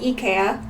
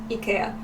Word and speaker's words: IKEA: in Japan is pronounced EA and in the comments all of the Swedish people tell us that that's closer to the original pronunciation they call it EA in Sweden that's how it's supposed